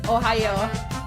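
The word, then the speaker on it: おはよう: Did you know the Japanese word for good morning is Ohayo? Come back tomorrow for more Curse Trivia with J-Man. Yes, actually. It's spelled a different way, but it's pronounced the same way as Ohio.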